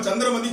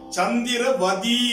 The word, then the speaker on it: சந்திரவதி: மூல இலக்கியத்துல சந்திரவதி என்று இருக்கிறது. அதற்கு சொல்லுவார் பார்வதி, திலகவதி, குணவதி என்பது போல சந்திரவதி என்பதுதான் சரி. சந்திரமதின்னு சொல்லக்கூடாது.